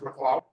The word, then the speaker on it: McLeod: Do you pronounce it McLeod? Yes. McLeod.